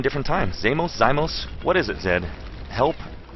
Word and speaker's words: xeimos: Is it, I think I pronounced her name 9 different times. Xeimos?